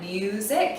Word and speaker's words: music: Music. So the U in that first syllable is open. It's the last sound in that syllable, so it's going to say its name.